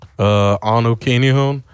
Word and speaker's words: Anu Kinihun: You can always find me on my Instagram, Anu Kinihun. It's spelled ANUKINIHUN.